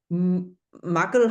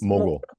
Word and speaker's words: mogul: You are a recovering engineer turned edutainment muggle. How do you pronounce this? Mogul.